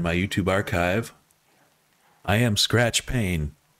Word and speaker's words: Skratch Pain: I am Skratch Pain. That's Skratch with a K, Pain with a silent E at the end.